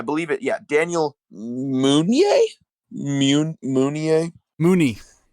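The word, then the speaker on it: Munie: Mooney. Mooney, right? American American pronunciation.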